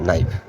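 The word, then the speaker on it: knife: প্রোনাউন্সিয়েশনের common mistake নাইফ কে এন আই এফই নাইফ নাইফ অর্থ ছুরি কিন্তু উচ্চারণটি হবে কে এর উচ্চারণ হয় না নাইফ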